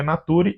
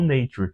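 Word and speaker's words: Naturae: Isso mesmo, se pronuncia Nature e não Nature, porque isso é dado em latim.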